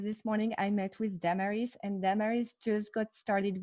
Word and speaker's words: Damaris: Good morning, Damaris. Am I pronouncing your name correctly? Close, Damaris.